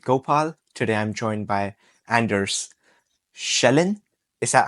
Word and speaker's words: Anders Gjellan: to fit with gopal today I'm joined by Anders shelin is that how you say your name well if you want the perfect pronunciation it's Andes yon in Norwegian but I don't think I've had